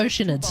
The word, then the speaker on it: Oceanid: Here, take 2 Oceanids. bottles for free. I was about to call them Oceanids. Paimon's private Whilst friend Oceanid is technically the correct pronunciation, Oceanid is the way I'm pronouncing it.